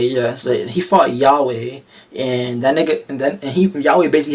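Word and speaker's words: Yhwach: Like he fought how do you say that nigga name? Yahweh. Like God, okay, yeah. So he fought Yahweh, and that nigga, Yahweh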